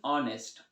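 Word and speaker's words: honest: ए ऑनेस्ट, नो, एन ऑनेस्ट, ऑनेस्ट इसमें भी H silent है, तो यहाँ पर भी एन होगा, यहाँ पर भी हमारे पास क्या होगा?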